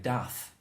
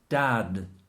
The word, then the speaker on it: dad: This word is the same backwards and forwards in English. It won't be in Spanish. It'll be like dath in Spanish. Yeah. Like a TH. No. But in this English, there's a word for it. I can't remember what the word is, but it's dad.